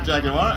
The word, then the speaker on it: jaguar: our next category is jaguar yes three syllables jaguar and this is a